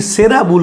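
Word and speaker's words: Sara Bull: বলেছেন যে আমি অলি সেরা বুল কেন বলি আসলে বাংলায় হচ্ছে সারা লেখা থাকে ইংরেজি এসির উচ্চারণটা সারা নয় সেরা বুল লুইবার্গ সেরা ভুল বলতেন সেজন্য আমি সেরা ভুল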